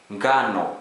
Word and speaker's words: ngano: Another combination is NG, ng, as in finger. A Swahili example, ngano, wheat, ngano, wheat.